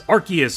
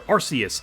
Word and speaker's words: Arceus: Pokemon Legends Arceus or Arceus, both ways have been pronounced, so I don't care how you say it, gets a software update for Daybreak.